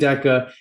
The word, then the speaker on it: Deca: So if you're new to us, it's pronounced trade Deca, and it's actually a play on words for us to make sure that you understand how singularly important the concept of just 10 pips is.